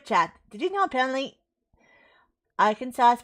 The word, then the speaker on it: Arkansas: that's how it's spelled it's funny isn't it it's Arkansas but if you look at it it's our Kansas I know I